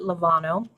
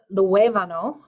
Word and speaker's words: Luevano: I've learned you do not pronounce it Lovano. It's Luevano. So Mr.